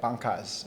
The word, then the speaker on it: banca: for the I want to say it right, bancas. Am I Right. Banca. That's it. You said it correctly.